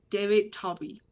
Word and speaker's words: David Talby: it's my honor to introduce our speaker tonight david toby i hope i spoke your i i pronounced your last name correctly yep okay great